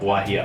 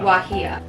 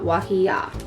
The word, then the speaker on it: guajillo: Alright, so the G and the J both produce an H sound, but when it's at the beginning, it has more of a W base to it, so it goes wah.